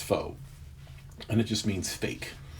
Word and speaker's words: faux: know what fo means it's spelt french f-a-u-x but it's pronounced foe and it just means